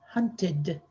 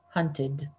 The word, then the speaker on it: hunted: it happens it happened 13 dad hunts dad hunted we're going to pronounce that ted as a second syllable normally we just put